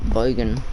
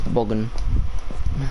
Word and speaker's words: Bogan: I love the way people say my name. Bogan. Not Bogan. It's Bogan.